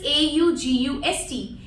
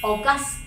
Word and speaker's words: August: किया जाएगा, which is AUGUST and it is a noun and the pronunciation is August. August. The stress is on the first syllable August, जिसका मतलब क्या है?